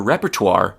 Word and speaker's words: repertoire: This sounds kind of French and it is from French. So you spell it like this. R E P E R T O I R E.